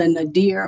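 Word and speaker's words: nadir: 1877 to 1901 as the Nader or nater I've heard it pronounced both ways um of African-American history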